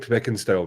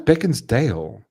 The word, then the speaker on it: Beckinsale: She looks like Kate Beckinsale does. Beckinsale. Beckinsale, yeah. Fuck my life, dude. I thought it was Beckinsdale. There's no D in there.